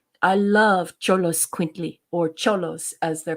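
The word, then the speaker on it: Xoloitzcuintli: it exactly the way my Spanish students taught me but cholos quintly I love cholos quintley or cholos as they're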